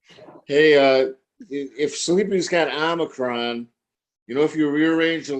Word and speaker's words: Omicron: Omicron. It's pronounced Omicron.